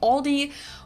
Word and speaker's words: Aldi: I think most people say Aldi, or they also sometimes add an S that isn't there in the end and say Aldis. In Germany, we just say Aldi.